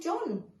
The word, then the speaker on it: John: have here start John the name John has a silent H in it doesn't it we don't we don't say hi John we say